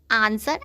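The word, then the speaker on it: answer: उच्चारण वाह होता है, लेकिन जब किसी वर्ड में W के बाद R हो या W के पहले S हो तो W का उच्चारण नहीं होता है। W के बाद R हो या W के पहले S हो तो W साइलेंट रहता है।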